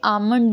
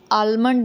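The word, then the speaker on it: almond: वो साइलेंट होता है, जैसे आमंड में आलमंड नहीं होता, कि बहुत सारे बच्चे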